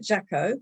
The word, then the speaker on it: Jacquot: And one of them was how to pronounce this delightful lady's name. She is Jacquot. I think I've got it right. Jacquot, Jacquot.